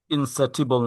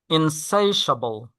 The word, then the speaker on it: insatiable: ইনসেটিবল না, এটা it's wrong. এটা হবে আচ্ছা। ইনসাইশাবল। ইনসাইশাবল। Insatiable.